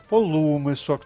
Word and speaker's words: полумисок: разом без винятків полукіпок полумисок наголос на у зверніть увагу полумисок полуніч полудрабок бік возового